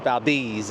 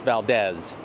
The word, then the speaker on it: Valdez: And it's not pronounced Valdez, it's Valdez.